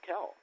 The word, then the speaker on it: Kelle: my first name is Kell and it is pronounced Kell not Kelly but lot a lot of people call me Kelly so I don't get